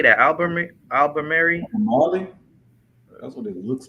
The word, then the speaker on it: Albemarle: And he said it's pronounced Albemarle.